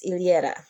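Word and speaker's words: Yllera: then the LA but the last name is ilera it starts with a y it's originally a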